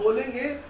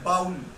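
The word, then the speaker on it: bowl: हालांकि आप बोलेंगे तो आपको थोड़ा अजीब लगेगा। कैसा लगेगा? खराब लगेगा, अच्छा नहीं लगेगा। बट आपको क्या बोलना है बेटा? आपको बोलना है बोल, नॉट बाउल। बाउल इज a wrong pronunciation.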